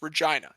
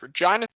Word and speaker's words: Regina: It is, by the way, everyone, I hope you know it's pronounced Regina. It is not Regina like King. It is Regina.